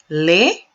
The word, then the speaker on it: laid: Lay. Yes, there's a D, but you don't pronounce that. Lay or laid. You pronounce the D here because of the E which follows. So lay, laid, ugly.